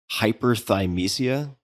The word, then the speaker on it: hyperthymesia: I want to take a pause here just for a second to ask you about, tell me if I'm pronouncing this correctly, hyperthymesia.